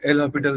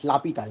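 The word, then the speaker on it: L'Hôpital: সেটা ওই এল হপিটাল দিয়ে করতে পারবো। এল হপিটালটা কি জিনিস? লাপিতাল, হ্যাঁ, এরকম কি ধরনের উচ্চারণ হপিতাল, যাই হোক।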